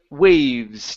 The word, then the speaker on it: waves: to um the word waves now remember this e here is going to be um silent so instead of the Waves it's it is the waves the waves were just